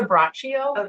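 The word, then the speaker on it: Braccio: I just Lisa Brachio.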